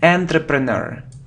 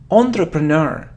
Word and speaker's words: entrepreneur: the both make mistakes here look it isn't enterpreneur it isn't entrepreneur it's all entrepreneur entrepreneur it's like a businessman entrepreneur entrepreneur entrepreneur